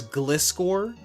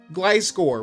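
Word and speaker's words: Gliscor: or freaking Glyscore as glycore? Like how do you even It's literally a It's gliding It's a gliding scorpion. Glyscore. Where the heck did glissor come from?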